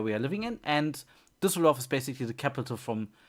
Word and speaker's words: Düsseldorf: Oh wait, the city is Düsseldorf. So let's make Düsseldorf. Whoop. The first or the second letter is an Ü. Ü.